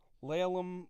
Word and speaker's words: Laleham: Laylam like chop 'em.